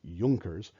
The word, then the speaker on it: Junkers: He was supported in this by the Junkers. That's how it's pronounced, Junkers. It's a German word.